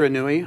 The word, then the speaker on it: Indra Nooyi: Now, another one that I picked out that you talked about was, and I never pronounce her name right, Indra Nooyi. Did I say that right? Indra Nooyi. Uh-huh.